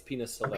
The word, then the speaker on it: Pinus sylvestris: I know you're fucking uneducated Americans, but it's Pinus Sylvestris.